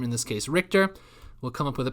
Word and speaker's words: Richter: with myself we'll call my last name is pronounced richter we'll pretend that i wrote this sentence and